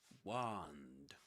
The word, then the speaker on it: wand: Wand. Wand with a long r sound in American English, but in British English with a short o sound.